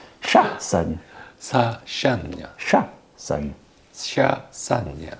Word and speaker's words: Chassagne: Pronunciation is correct. Chassagne. Sassagno. Chassagne. Chassagne. Chassagne, correct. Sassagno.